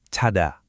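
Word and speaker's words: 자다: Cada.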